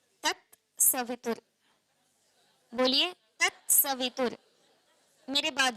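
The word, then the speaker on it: तत् सवितुर्: साथ डाला हुआ है तस्य वितु तस्य कहीं नहीं लिखा होता आप मंत्र को कहीं भी देखना लिखा होता है त सवित क्या लिखा होता है तत सवित बोलिए तत सतु मेरे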